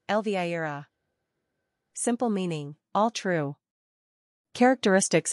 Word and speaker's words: Elvira: Pronunciation, el-VIE-rah.